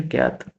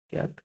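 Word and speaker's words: kyat: Myanmar, क्या इसकी, Myanmar की है भैया क्यात, के वाई ए टी, क्यात।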